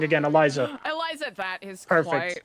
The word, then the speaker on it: Eliza: Eliza.